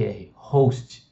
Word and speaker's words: host: chama de host tá é h o s mas a gente a gente pronuncia e em inglês como se fosse o h como se fosse R host tá e host ele